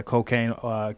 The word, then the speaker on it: Quocaine: Quocaine. If you're not comfortable with saying cocaine, you could just say. But yeah, Quocaine, Quocaine on all socials.